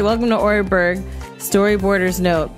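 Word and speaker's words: Oreburgh: let's say welcome to oreberg storyboarders note pronounced or berg like that excited to receive my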